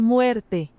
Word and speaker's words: muerte: Demi muerte.